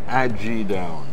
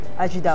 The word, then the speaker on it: Ajidahun: Ajidahun. It's like Aji, A-J-I, Aji, mm-hmm. and down. Ajidahun. Ajidahun. So you don't pronounce the H. Ajidahun.